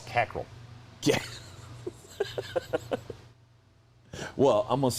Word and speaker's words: Cockrell: know about ross cockrell you keep saying his name wrong you're saying ross cockrell his name's ross cackle well i'm going to